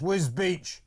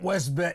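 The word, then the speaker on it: Wisbech: Says it's pronounced Whisbe, not Wisbe. Whisbetch. I said Wisbeck, I think. Did I? Or Wisb. Yeah, Whisbbeck. Anyway, it's pronounced Whisb, not Wisb.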